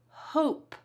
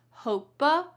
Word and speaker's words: hope: We say hope, not hope-a, hope-e. Instead, that e is silent.